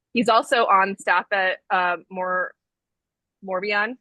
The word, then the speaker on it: Moravian: Moravian. Moravian.